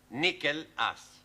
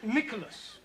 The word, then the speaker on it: Nicholas: upon a times there was a man called nickel ass it's not quite right no no once upon a time there was a woman called Nicholas it's pronounced Nicholas all right once upon a time there was